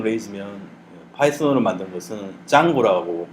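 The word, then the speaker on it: Django: 파이썬이 바로 직전에 만들어졌고 또 루비 랭귀지로 만든 프레임워크가 루비 온 레이즈면 파이썬으로 만든 것은 짱고라고 발음을 하더라고요.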